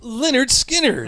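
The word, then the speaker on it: Lynyrd Skynyrd: Leonard Skinnard. Pronounced Leonard Skinners.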